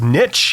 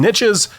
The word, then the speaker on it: niche: the US, it's pronounced niche, as in there's riches and niches. But if you live in Canada or the EU or anywhere else, it's niche.